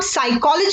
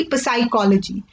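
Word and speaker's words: psychology: ना ही प्रयोग मोनिया इसे अब स्कूल कॉलेज ही पढेंगे रितेश पीएस की टीम में आ रहा है ना कि प्रसाई कॉलेजी तो पीछे जो है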